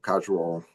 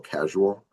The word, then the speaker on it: causal: I always want to call casual. That's much easier for me to pronounce. Yeah. A little bit of a speech impediment, but it's cause and effect. Causal. Maybe I'm adding a syllable in there. That's why it sounds weird.